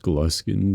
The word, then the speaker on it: Gluskin: Yes, I know it's pronounced gluskin, but I think gluein sounds funnier.